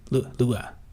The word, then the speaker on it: Lua: Presumably pronounced like the traditional Hawaiian party. Lua.